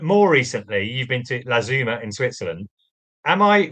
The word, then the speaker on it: La Tzoumaz: Apparently, the locals told me that if you just say Satsuma, then Latuma is the correct pronunciation.